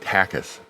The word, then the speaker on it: Takes: His last name is pronounced Takis.